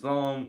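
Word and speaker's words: Xalmz: my God hello everybody my name is z in case you saw the th and Confused how the hell do I pronounce that name x a l m z it's uh I've had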